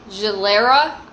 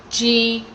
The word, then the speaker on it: Glera: This one is actually 85% Gilera, and I definitely did not pronounce that correctly, but it's Glera, and that's the grape that they use to make this Prosecco.